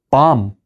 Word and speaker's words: bomb: 밤 폭탄이에요. 밤 bomb 마지막 b가 발음이 안 돼요. 그리고 아라고 발음합니다.